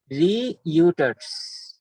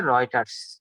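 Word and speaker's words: Reuters: রিইউটার্স, রিইউটার্স এটা আমরা যখন বানান করি এভাবে বলি, কিন্তু মূল অর্থ হচ্ছে রয়টার্স, মূল শব্দ হচ্ছে রয়টার্স।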